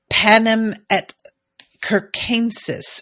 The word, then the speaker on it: Panem et circenses: And we get the thing with Plutarch and the Panem et Circenses is apparently how this is pronounced, which I would never have guessed.